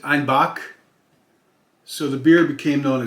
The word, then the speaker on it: Einbeck: dialect of German there, they pronounce Einbeck, which is E-I-N, then B-E-C-K. You'd think Einbeck. They pronounce it Einbach.